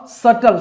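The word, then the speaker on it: subtle: The Aaris get अ सटल सल का मतलब क्या होता है इसमें बी साइलेंट रहेगा रहेगा।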